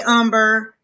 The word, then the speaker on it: Umber: Um, hey Umber. Um, everybody kept calling Amber. Um, I mean Umber Amber last night in class.